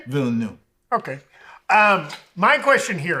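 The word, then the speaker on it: Villeneuve: two how do you say his last name vill new okay um my question here is there's been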